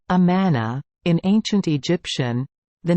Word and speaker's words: Amun: Pronounced Amana, in ancient Egyptian, the name Amun means hidden or invisible.